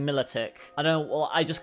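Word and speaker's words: Milotic: I recognize that it's probably Miloic because it's like the Venus de Milo on Milic. But I can't not call this thing Militic.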